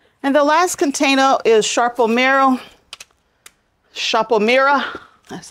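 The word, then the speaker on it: Sarpo Mira: And the last container is Sharpomira.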